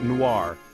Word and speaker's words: noir: powerful color is black or Noir in French we pronounce it Noir again with that soft R sound at the end chapter 6 let's move